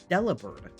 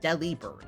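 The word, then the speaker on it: Delibird: someone posed the question is it supposed to be delivered like delivered bird I have never heard anyone say it like that which is wild to me because that feels like it's obviously the correct answer Del bird like delivered not not Deli bird bir and I'm still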